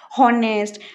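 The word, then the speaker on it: honest: উচ্চারণ করতে গেলে ওই পার্টিকুলার ওয়ার্ডটা যদি আমি প্রনাউন্স করি, উচ্চারণ করি, তখন এইচটা সাইলেন্ট হয়ে যায়। ফর এক্সাম্পল আওয়ার, আমরা কীরকম বলি? হাওয়ার, হাওয়ার বলি না, হাওয়ার, হনেস্ট, হনার্স এরকম বলি, এরকম অবভিয়াসলি বলি না।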